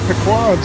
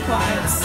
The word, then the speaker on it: Pequod's: How do you say the name of this restaurant? Pequod's. Pequod's. Yeah. Not Pequod's, Pequod's.